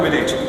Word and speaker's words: Midici: three minutes you're gonna hear ciao welcome to medici that way two things one you know you're